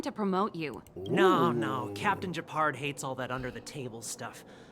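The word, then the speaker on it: Gepard: Seeing as you're Captain Japard's sister, it should be fine. I feel like I keep wanting to say Gaspard the way his name is spelled, but I know it's Japard.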